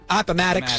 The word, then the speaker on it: Appomattox: Appomattox, I think I pronounced it right. Appomattox, that's correct.